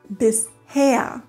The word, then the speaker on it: bisher: Ein Beispiel ist das Wort bisher und wird so getrennt: bis und her und niemals bisch. oder sowas.